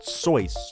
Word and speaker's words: Seuss: his pen name dr seuss but as it turns out it's apparently pronounced soice like voice it's german i'm still gonna say